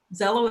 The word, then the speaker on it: Xello: Zello is spelled Xello. It's their new trademark name. Okay. So not even close to like Zillow, where you go online and find the value of your home.